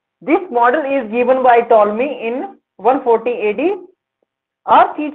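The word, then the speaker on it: Ptolemy: यह model टॉलमी ने 140 ईस्वी में दिया था। तो अगर पूछे कि जियोसेंट्रिक मॉडल किसने दिया था तो आप कह देना टॉलमी। इसमें पी साइलेंट होता है।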